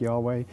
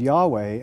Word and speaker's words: Yahweh: god uh who is has the name Yahweh pronounced something like Yahweh but they also worshiped